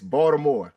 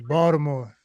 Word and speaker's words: Baltimore: You do not pronounce the T. You pronounce it's Baltimore. Like It's Baltimore.